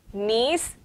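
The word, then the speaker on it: gneiss: the weathering of granite knees g is silent in the pronunciation of knees and other crystalline rocks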